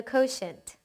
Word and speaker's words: quotient: 네, when you divide numbers, the answer you get is the quotient.